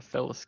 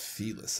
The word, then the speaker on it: Felis: I'm a Felis gamer. I think it's pronounced Felis, isn't like feline?